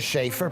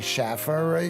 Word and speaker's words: Shaer: getting it right well my name is shaer people say Schaffer you just got to